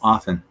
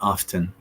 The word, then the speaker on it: often: say this word incorrectly the t is basically silent so it's often not often but I know I'm